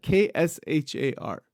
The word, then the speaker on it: kshar: The way it is pronounced in Sanskrit, it is pronounced kshar. It's a ksha. There's a symbol for that, ksha.